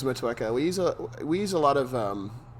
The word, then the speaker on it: Motueka: I know there's so many different, like Citra and Motu? I always mispronounce that. Yeah, I was mispronounce that. We do use Motueka.